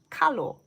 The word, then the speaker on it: kalo: So this is more widely known as the taro plant, T-A-R-O, but in Hawaiian, it's called kalo, K-A-L-O.